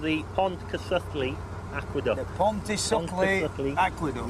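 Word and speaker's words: Pontcysyllte: Now then, this bridge, this aqueduct, has got a very strange name that I can't pronounce, has, so yeah. I'm going to let you do it. Yeah. It's called the Pontcysyllu Aqueduct.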